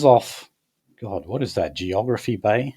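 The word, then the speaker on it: Geographe Bay: Oh, so it is pronounced Geography Bay.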